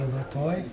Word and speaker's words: Latoy: And, my wife tells me I'm pronouncing your name wrong. It's supposed to be Latoy.